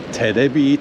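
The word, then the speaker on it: テレビ: They, because they're really bad at pronouncing English, it's called Terebi Tower.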